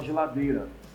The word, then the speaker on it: geladeira: o caso mais certo que o i não é nem pronunciada a gente fala geladeira então se a letra